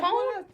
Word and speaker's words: Kone: Kone. Kone. See, I was there. I wasn't sure. That's She's so fancy. Tandi Kone. That's not my words. That's the West Africans. That's how they want it pronounced.